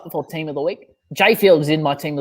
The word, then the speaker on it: Jai Field: It's spelled Jai, but it's pronounced Jay. Spoiler alert, if this gets up before Team of the Week, Jay Field is in my Team of the Week on